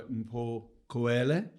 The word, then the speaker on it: Mpho Khoele: So, with no further ado, today's guest, I'm delighted to be joined by Mpho Khoele. Did I pronounce that right?